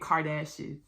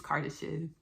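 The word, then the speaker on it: Kardashev: If you don't know what the cartef scale is, um, I was pronouncing it Kardashian for the longest and my soul finally mustered up the courage to tell me, "Hey, Ashley, it's Cardishes." Oh, okay.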